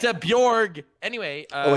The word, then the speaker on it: Bjorn: Not a silent J, it's a Y sound. It's a Bjorg.